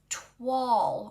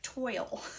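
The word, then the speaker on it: toile: FYI, it's TW, which rhymes with fall. Oh, thank you, Moren. I did not know that. I thought it was like toil.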